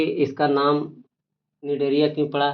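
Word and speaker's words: Cnidaria: अब इसको में है कि इसका नाम निडेरिया क्यों पड़ा, तो इसमें क्या है कि सी साइलेंट है और नीडो नीडो नीडोब्लास्ट नीडोब्लास्ट नाम,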